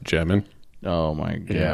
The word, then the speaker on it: Demin: Uh pulled that Egor Demin rookie of the year. it's actually pronounced Demin.